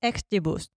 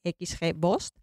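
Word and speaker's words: XGBoost: concreto el famoso modelo xbus que aunque Es un poco difícil de pronunciar yo os lo dejo escrito en las notas del programa se escribe xg b o o s t xg bost y pronto Incluso le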